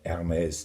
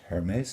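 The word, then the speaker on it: Hermès: Another consonant which is silent, especially at the beginning of the word, is the letter H. And I'm wearing an Hermes tie. It's not pronounced Hermes, it's Hermes.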